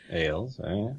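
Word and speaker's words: Ales: His name is spelled A-L-E-S. Ailes, And art by Michael Walsh.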